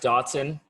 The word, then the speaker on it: dachshund: I think it's pronounced Dotson, Chris. No, as another dachshund owner, this is where producer Dave and I team up against you. No, we know how to pronounce the breed of our dog.